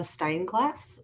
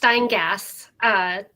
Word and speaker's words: Steingass: Annual Report with Shayna Steinglass. Please correct me on that pronunciation. That's just Steingass. Everybody puts an L or an R in there.